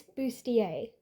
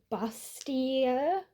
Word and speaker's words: Bustier: you're seeing it spelled out, which is Miss Booier. I've seen it mispronounced before, and that can happen when you're